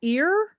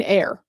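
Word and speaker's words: Eyre: And then we got Jane Jane ear. And then we have that evening sun. Oh, pronounced like air. Oh, Jane air.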